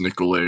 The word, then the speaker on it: Nicollet: Nicollet was one of the French explorers from the 1600s, and so probably pronounced Nicolay or something, but everybody just calls it Nicollet Avenue.